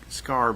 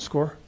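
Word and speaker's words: Skaar: And I believe you pronounce his name as like Scar, but is it Sergeant S-K-A-A-R? That's correct. How did you pronounce that? Sergeant Score?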